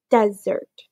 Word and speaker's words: Desert: island called Mount Desert she pronounced it desert ice cream cookies brownies pudding fudge